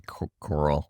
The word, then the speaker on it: Koral: It's actually Koral. Koral? It's Koral. Oh, really? Koral. See, I asked you your pronunciation, just felt like...